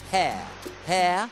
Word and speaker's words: hair: Hair, ok? Hair, con l'H ben pronunciato, capelli, right?